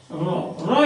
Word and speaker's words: Rho: It is pronounced as Rho. That is our R.